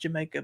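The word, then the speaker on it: D'yer Mak'er: deer maker Jama Jamaica it's pronounced Jamaica but it looks like deer maker which is kind of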